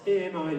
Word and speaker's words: AMI: And then there's a second phrase that we use, and it's AMI. We actually pronounce it the French way, ami, which means friend.